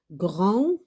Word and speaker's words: grand: Jacques, donc le S, ça ne se prononce pas. Yves, aussi le S. Grand, la lettre D.